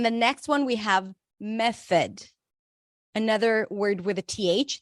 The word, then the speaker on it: method: And then the next one, we have method. Another word with a TH. The O is a schwa. Me, primary stress.